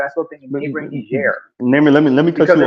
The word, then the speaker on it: Niger: I call it Niger, the French pronunciation.